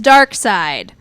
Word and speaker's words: Darkseid: And the way that they sort of just conceived to do that was to have Darkseid, who, yes, his name is Darkseid. That is spelled D...